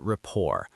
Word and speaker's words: rapport: It's how we build rapport. R A P P O R T. That silent T is tricky.